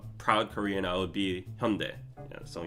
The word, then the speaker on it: Hyundai: to be a proud Korean, I would be Hyundai. Yeah, so Hyundai is the proper pronunciation, but even Hyundai Global, like if you see their marketings, like they pronounce it Hyundai.